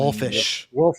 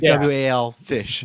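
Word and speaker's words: Wallfisch: Benjamin Wolfish. I think that's how you say it. Yeah, it's like WAL fish.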